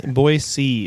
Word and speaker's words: Boise: town I liked Boise how do you say boy boy see apparently like you see boys yeah look at all